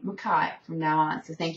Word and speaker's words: Mackay: her pronouncing White and Mackay. Now, Canadians always say A, so Mackay. Scots say I, Mackay.